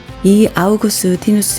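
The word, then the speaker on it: Augustinus: 아우구스티누스 라는 이름 은 라틴어로는 이렇게 발음 되지만 , 영어 로 는 "Augustine" 으로 발음 됩니다 .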